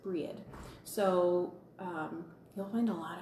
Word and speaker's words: Brigid: on the end, and I pronounce Brigid, I pronounce it Breed.